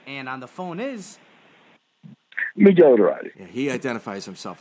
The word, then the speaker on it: Miguel: So Miguel, how do you say your name? And it's like what was spoken in your house, like when your mom was yelling at you. Miguel. Miguel.